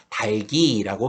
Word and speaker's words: 닭이: 형식 형태소가 왔을 때는 밑에 있는 두 개의 자음 중 뒤의 자음이 바로 올라가는 연음 현상이 일어나서 발음을 하게 되기 때문에 달기라고 발음하는 것이 표준 발음이 되겠습니다.